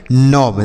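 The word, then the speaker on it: knob: इसे हम पढ़ते हैं नोब देखिए यहां पर भी के और एन एक साथ है तो यह के साइलेंट रहेगा तो इसे हम पढ़ेंगे नोव के एन ओवी नोव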